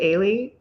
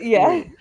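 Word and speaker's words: Ehle: So I double checked because I want to say Ailey, but it's Ailey.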